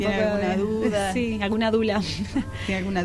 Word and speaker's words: Doula: Sí, alguna dula. ¿Tiene alguna dula? Sí. No, el Face. Sí, yo me manejo mucho por Face. ¿Cómo era tu apellido? Es Dula. Que se escribe Doula.